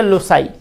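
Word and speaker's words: loci: लोकस, यूएस को बदल दीजिए आई में, उच्चारण इसका हो गया लोसाई।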